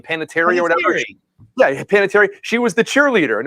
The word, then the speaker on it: Panettiere: Hayden, how you pronounce her last name? Panettiere or whatever. Yeah, Panettiere.